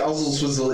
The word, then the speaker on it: Oswaldtwistle: Oswald Twizzle. It is Oswald. Yeah, but they pronounce it Ozzle Twizzle, it's sound.